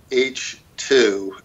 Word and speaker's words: Eichi: So this is the famous Credor H2. EICHI, pronounced H, 2, like Roman numeral 2.